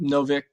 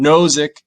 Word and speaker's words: Nozick: is this uh oh so so robert no novick zick sorry i always say his name wrong nozick is it justin i inherited this money you